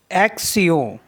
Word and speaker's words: action: Next word है ACTION, एक्सियों, एक्सियों, एक्शन।